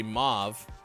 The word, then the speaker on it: mauve: spurs some controversy uh you could say mauve with a short a sound like father or you could have uh rhyme with stove move never once ever